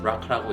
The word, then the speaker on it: BRCA: 졸리도 BRCA, 보통 브라카라고 읽는 유전자의 변이를 가지고 태어났는데요.